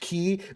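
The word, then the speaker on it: χ-blade: called the Keyblade but it was like spelled like with the Greek letter but still pronounced key because actually [ __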